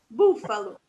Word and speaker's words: búfalo: Búfalo. Esse também tem o acento agudo na primeira sílaba, búfalo, porque é a sílaba mais aguda, né? É a sílaba de destaque da palavra.